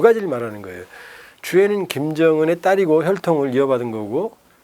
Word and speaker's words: 주애: 이름은 주애. 주애 맞아요. 주인 주자 사랑했자입니다. 그래서 로드먼이 발음 잘한 거죠.